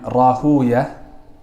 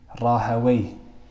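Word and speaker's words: Rahwayh: as Imam Ahmed, and there's two ways to pronounce his name, his last name. The grammarians, the Nahwiyun, the people that give ihtimam to the Arabic language, they say Sibaway, Rahaway, Ishaq ibn Rahaway.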